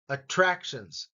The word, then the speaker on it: attractions: That one's the second syllable. Attractions. Upscale.